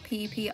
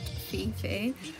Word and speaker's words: Phi Phi: it's nice and so it's actually pronounced PP Island so I do apologize it's not Fifi uh we stayed in